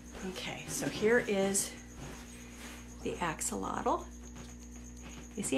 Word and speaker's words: axolotl: So I always tell people, I love my axie, not a little, but a lotl.